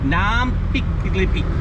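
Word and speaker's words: น้ำพริกกะปิ: Nam pik kapi.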